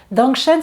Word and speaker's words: Dangshen: Dangshen, ça s'écrit D-A-N-G, plus loin S-H-E-N, vous le trouverez sur les mêmes sites dont je vous parle.